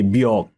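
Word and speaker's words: Björk: right like let's say bork right but the spelling is bj o r k but you pronounce it b right and sometimes the reader will read it as b pronouncing the j yeah so I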